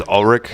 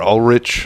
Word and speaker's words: Ulrich: like Lars Lars Lars I think I am pretty sure it's pronounced Lars Ulrich or all rich Ulrich the one that tried to